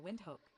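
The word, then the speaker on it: Windhoek: This is how you say Nambia capital wind hook.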